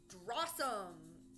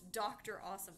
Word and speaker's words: Dr. Awesome: So it was like drawsome. No? Drawsome the Wizard. Oh, it's Dr. Awesome. Oh, isn't that ridiculous? I've been saying it wrong this entire time.